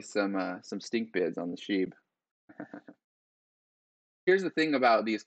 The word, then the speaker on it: SHIB: a Shiba Inu, shortened to Sheeb, pronounced Sheeb. How would you pronounce it? Shib? Yeah, but that doesn't. That I mean. Shiba Inu, it's short. Sheeb is short for Shiba. So that's how it's pronounced.